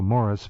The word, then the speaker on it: Maurice: He pronounces it, as we both know, Morris, but nonetheless, yes, yeah.